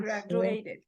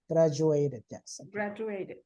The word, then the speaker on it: graduated: why it's in in italics how do you pronounce this word graduated sometimes the letter D sounds like like Soldier education graduated graduated yes um so do we have subject